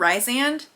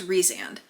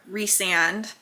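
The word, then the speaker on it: Rhysand: re reand Rees reand I want to call him Rand but I think it's reand um I know because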